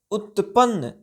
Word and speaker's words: उत्पन्न: उच्चारण चट्टाने भवर उत्पन्न यहां पर देखिए त का जो है अक्षर यह आधा अक्षर है न में भी आधा अक्षर है ठीक है तो क्या पढ़ेंगे उत्पन्न ठीक है करने वाली